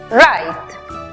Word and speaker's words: write: Tenemos W muda antes de R al comienzo de la palabra. También vemos que termina en E muda al final, precedida de una consonante. Aplicamos entonces el sonido abierto de la I. La pronunciación final para la palabra escribir es write.